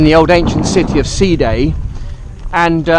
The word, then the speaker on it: Side: Day itself in the old ancient city of C day and C day basic spell si da si de side but pronounced C de s EE da Y and C day basically